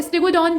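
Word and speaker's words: Stegodon: और उत्तर प्रदेश के किस जिले में स्टीगोडन जीवाश्म की खोज की गई। स्टीगोडन नहीं है, ये स्टेगोडॉन है, ठीक है।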